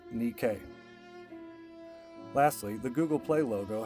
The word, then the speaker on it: Nike: the ancient greek goddess of the same name pronounced nikkei lastly the google play logo has unfounded rumors